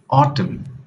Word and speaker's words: autumn: letter N yes it's the letter n this is autumn and this is Colin did you get that